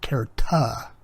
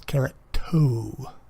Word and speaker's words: keratoconus: And the condition I have is called keratoconus. Always want to pronounce it kerata, but it's kerato.